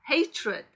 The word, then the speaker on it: hatred: 따라서 발음 규칙도 우리가 동사에 ed를 더했을 때 그 발음 규칙을 따르지 않는다는 거 기억해 주셔야겠죠?